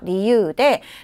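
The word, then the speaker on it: 理由: 리유 사이즈가 다 같아요 히라가나가 류 아니고요 유라고 읽어야 되죠 리유 타고 야마시다 아버지는 건강상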